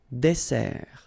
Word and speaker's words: dessert: So, remember that we've got here two S. Okay? That's the reason why you pronounce it S. And then it opens the dessert. Un dessert. So, you don't say un dessert. Okay? But you say un dessert. Final T not pronounced.